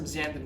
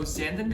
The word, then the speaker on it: xanthan: So xanthan gum, I know it sounds scary because there's an X in front of it, so let's take that X away and call it anthan gum. Anthan rhymes with Santa, so we'll call this